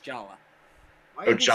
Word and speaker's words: Jaller: It's pronounced Jala.